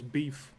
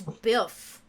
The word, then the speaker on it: Biff: here eddie no the way you say his name he sounds like his name is beef as well because it's biff i got no beef